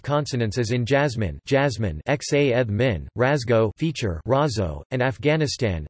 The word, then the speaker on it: jazmín: There is a certain amount of free variation in this, so that jasmine can be pronounced xa theta min or xa eth min, both in casual and informal speech.